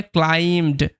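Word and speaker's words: climbed: এর উচ্চারণ তাহলে এখানে বি এবং ই দুটোরই কিন্তু উচ্চারণ হবে না। উচ্চারণটা হবে ক্লাইমড।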